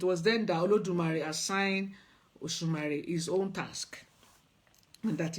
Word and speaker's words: Osunmare: So Osumari, pronounced Osumari. When a lot of people, they will say the name. Some will say the beginning went to Oshun, which is, you could see a bit of Oshun there.